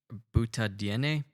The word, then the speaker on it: butadiene: pronounce this word but it's spelled b-u-t-a-d-i-e-n-e butter dna yeah it's it sounds like weirdly exotic or maybe i that's how i want to say it that sounds more like a chemical yeah butadiene no butadiene or butadiene like derived from butane perhaps um so she thinks